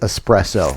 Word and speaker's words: espresso: Sherry, it's espresso. Thank That's how you pronounce that coffee term.